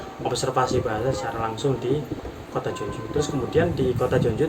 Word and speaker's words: Jeonju: Tulisannya kalau diromanisasikan itu apa, Jeonju, tapi bacanya Jeonju, pakai O tipis itu Jeonju.